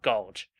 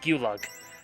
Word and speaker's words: Gulug: All right, it's Mount Gulge, or Julg. Look, they call it Mount Gulug. In the NES version, so Mount Gulug it is.